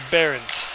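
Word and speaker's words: Berndt: B-E-R-N-D-T. That is pronounced Barrett.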